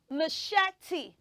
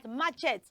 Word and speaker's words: machete: words after me say maette oh let's try that again say maete good so you don't pronounce that word as matchet you know it's a